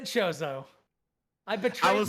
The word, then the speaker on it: Chozo: voice acting in this game and they say chozo i just never grew up saying it that